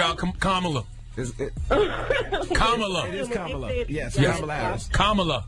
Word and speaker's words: Kamala: It is Kamala.